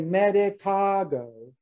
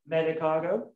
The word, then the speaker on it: Medicago: Okay, so all syllables are voiced. Emphasis falls on the penultimate or the antepenultimate syllable. That is the second to the last syllable, the penultimate, or the antepenultimate, the second to the second last syllable. So I say medicago, which is medic, that little, alfalfa. Medicago. Medicago. And I also say symphiotricum, which is asters.